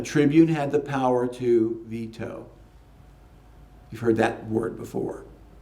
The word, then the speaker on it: veto: Or should be veto, actually, not veto. It's an American mispronunciation.